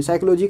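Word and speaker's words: psychology: साइकोलॉजी का पी से होता है, तो बोलने में ease, for the sake of ease, बोलने में आसानी है उसके वजह से इसके पी को साइलेंट किया गया।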